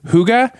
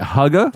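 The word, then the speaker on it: hygge: Is it Huga? Like, it's spelled H Y G E, but it's pronounced they said it rhymes with sugar.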